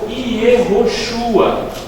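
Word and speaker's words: יהושע: um nome hebraico e em hebraico a pronúncia daqui a mais ou menos yehôshua era assim que ela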